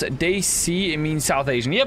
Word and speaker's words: Desi: Pronounced DC, it means South Asian.